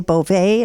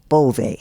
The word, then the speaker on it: Bove: oh yes and I wanted to say bovet at first but that's the French pronunciation it's pretty close and so you earned it you're Italian I am Italian so it's bovey correct and tell me